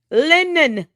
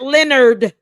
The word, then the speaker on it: Lennon: Lennon, not Leonard, Lennon.